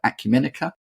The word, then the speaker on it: Acumenica: from I probably will mispronounce this because I mispronounce anything but Acumen there you go is that is that how